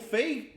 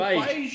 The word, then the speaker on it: Feig: Well, just quickly letting you know that how do you pronounce his name? Paul Feig? Paul Phage. I say Phage.